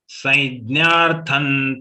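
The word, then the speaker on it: संज्ञार्थं: Saidnyarthan, here it is a joint letter of ya and dnya. In regional language, when we pronounce dnya, it can be jnya, it can be gya, or it can be dnya. All are acceptable to Gītā Parivar.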